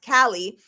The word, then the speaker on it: Cailleach: The Irish goddess, Cailleach, or pronounced Kali, sits in her lotus position, also, and does the same.